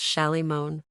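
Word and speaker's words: Shalimar: Solomon shomer which Mister Solomon and everybody else pronounced sh moan milkman's scalp began to tingle Jay the only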